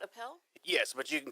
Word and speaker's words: Appel: statement is Appel you pronounce it Appel yes but you can